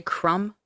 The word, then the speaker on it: Crump: a Dickens novel yeah it's spelled Crump but I don't know if you just say crumb but either way if it's Benjamin Crum or Benjamin Crump yeah it's still perfect